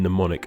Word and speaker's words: mnemonic: silent L in folk, a silent M in mnemonic, a silent N in